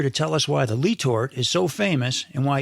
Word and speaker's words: Letort: And I tell you, I grew up in Toledo, Ohio, tying these Letort hoppers. And I know now after talking to you that it's actually Letort. And that's the correct way to say it, correct?